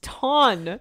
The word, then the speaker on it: ton: It's pronounced Tun. No. It's French.